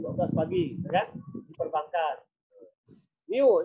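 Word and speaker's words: μ: Miu, ini bacanya Miu ya. Miu. Kayak U tapi ada ekornya ini kan. Miu bacanya.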